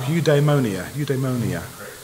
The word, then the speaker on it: eudaimonia: This is pronounced, I had to look this one up, eudaimonia.